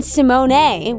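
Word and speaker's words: Symoné: Evan Rachel Wood yes Raven Simone which I found out is actually how we pronounce her last name nah yes I think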